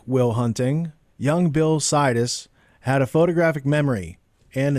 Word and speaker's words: Sidis: pushed them too hard situs the name rhymes with Midas was born a century